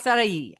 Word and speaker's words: Passati: Passati. Is that close enough? Passati. Passati. The accent is on the A, but it's okay. Passati.